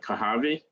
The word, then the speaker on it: Kohavi: You pronounce it Kohavi, Yeah.